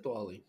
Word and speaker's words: Diwali: Oh, it is Diwali.